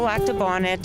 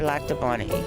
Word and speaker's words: Lac du Bonnet: So Lac de Bonnet or Lac de Bonnie is the pronunciation here. Either one goes? Either one goes, yeah. You won't get in trouble for either one.